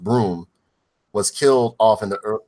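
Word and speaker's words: Bruttenholm: and everything like that route in the home pronounced broom was killed off in the killed off early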